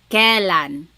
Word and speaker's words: kailan: Then the word kailan, when. You might hear some people say kailan. Sounds like an E, but it's technically spelled with an AI.